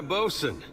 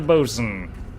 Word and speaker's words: boatswain: Alright, we've saved the bosun. I don't know why they say bosun when it says boatswain, but maybe I just don't know how to pronounce that stuff.